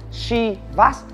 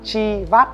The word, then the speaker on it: Chivas: Hãng rượu này đọc gọi là Chivas chứ không phải là Chivas như mọi người hay lầm tưởng.